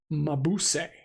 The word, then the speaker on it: Mabuse: Yeah, so yes, Mabuse. Okay, so I was saying it right.